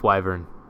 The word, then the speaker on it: wyvern: It's wyvern.